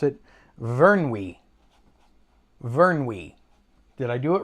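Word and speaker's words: Vyrnwy: And the lake is called, let me pronounce it, Vernwy. Vernwy.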